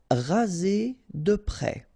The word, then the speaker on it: raser de près: Raser de près, final S not pronounced, okay, so here you get the E accent grave, E, près, okay, here E accent aigu, et raser, raser de près.